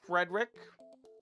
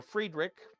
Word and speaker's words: Friedrich: In 1812, uh, there was a man named Frederick or Friedrich, depends on how you want to pronounce it.